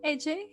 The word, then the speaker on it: Ece: entrepreneurs alike have a listen so we have AJ here with us uh I already asked how to pronounce the name just to be sure that